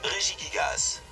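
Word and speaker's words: Regigigas: Voilà, il y a toutes les façons de le prononcer. Vous prenez celle que vous préférez qui se nomme en fait Rie Gigas.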